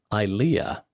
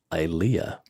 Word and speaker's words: Ilea: According to what she wrote, I should be pronouncing her name Ilea. Ilea.